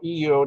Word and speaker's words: Io: The most volcanic object in our solar system is the moon, Io, EO, depending on where you're a Carl Sagan follower or how you want to pronounce it. He called it EO, spelled Io, whatever.